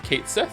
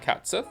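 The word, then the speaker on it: Cait Sith: If I was 7 reborn uh or re Rebirth, whatever they confirmed that the name is a mispronunciation that sounds how that sounds how it reads. So So it's Kate Sith. It's not catsith.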